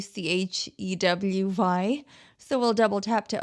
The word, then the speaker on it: Chewy: And the text-to-speech had an interesting pronunciation there, but this is Chewy, Chewy.